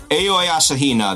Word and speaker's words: Aoi Asahina: And the person who did it was this character here, Aoi Asahina, the ultimate swimming pro. But that's how they pronounce her name in the game.